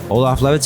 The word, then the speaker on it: Olaf Lewitz: Olaf Lewitz is here. Did I pronounce it right this year?